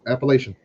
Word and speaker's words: Appalachian: Yep, Appalachian. Appalachia. That's what they said. Appalachian. They said I was saying it wrong. Sure, it depends on where you're from.